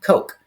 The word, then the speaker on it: Koch: he calls it that it's probably pronounced um Coke and uh this the